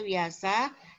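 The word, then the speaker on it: Vyasa: kitab yaitu Mahabarata itu karya wiasa viasa tapi dibacanya wiasa dan Ramayana karya wmiki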